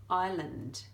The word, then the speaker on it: island: and a few more island I learned with our lovely silent s in there so Ethel and if